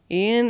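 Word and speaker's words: Iain: Ian Anderson, I believe is how that's pronounced. It's like I A I N.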